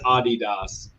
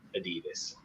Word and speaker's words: Adidas: work there it is Adidas uh because I also speak German but in American English we all stupidly say Adidas you also say Legos